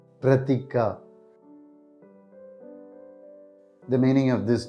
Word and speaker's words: Pratika: this is how we pronounce the name pratika pratika pratika pratika the meaning of this name is image or